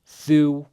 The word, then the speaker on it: þú: Vilt, then thu, we have our thorn, D voice TH. U with an accent is like 2 O's, oo.